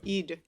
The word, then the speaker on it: Eid: One thing to note about Eid Al Fitr is that between the two Eids, this actually is known as the lesser Eid.